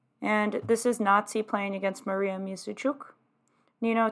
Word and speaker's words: Nazi: So Pakidze's first name means tender in Georgian, and it rhymes with Ozzy. Jennifer Shahadi makes that clear, right? First name is Nazi, so you can understand.